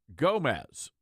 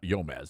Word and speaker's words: Gomez: It's not Yome. That's But it is silent on like Guatemala and guacamole. that but it's the G is not silent here.